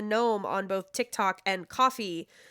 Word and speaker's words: Ko-fi: Thank you again to Gnome Ann or Ann the Gnome on both TikTok and Coffee. I've recently learned it's pronounced coffee and not Ko-Fi, so I hate that.